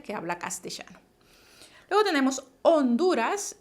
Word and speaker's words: Honduras: habla castellano luego tenemos honduras y aquí esta palabra se escribe como una h y recuerden la h siempre es muda méxico gméxico después volvemos